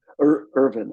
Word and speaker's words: Irvin: yolum is it help get make sure I pronounce his name correctly it's Irwin or vin Irvin i r v i n yolum y o